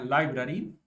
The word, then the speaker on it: LBRY: Y se pronuncia Library, pero se escribe LBRY.